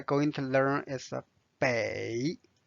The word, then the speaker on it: 北: to learn is a bay bay bay is a direction means north bay notice it's the third tone now let's study this